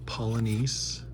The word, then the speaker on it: Polynice: Olden Polynice. Some of these names are fantastic. Remember when you were a kid, you kind of had swagger when you could pronounce some of the names. Actually, it's Polynice.